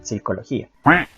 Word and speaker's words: psicología: escribe con help gnoseología es como psicología se escribe con p pero no se pronuncia la pena street psicología y no es camino sólo